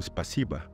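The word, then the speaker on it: спасибо: Tak jak mówimy po rosyjsku, spasiba. Tam nie ma a wszędzie, prawda? Natomiast jest to nieakcentowane a, które wymawiamy jako a, tak naprawdę to jest o w pisowni, prawda?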